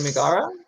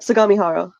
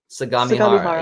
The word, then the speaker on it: Sagamihara: Sumigara? Is that how you say it? Sagamihara. Sagamihara.